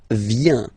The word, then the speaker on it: viens: First form, je viens, final S not pronounced. Je viens, remember, I-E-N, ien, je viens. Okay, tu viens, final S not pronounced.